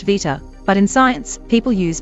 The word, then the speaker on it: beta: In Greek, for example, the letter beta is pronounced vita, but in science, people use beta.